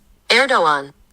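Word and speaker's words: Erdoğan: As we wait for the answer, let's all learn how to pronounce this guy's name. Erdogan.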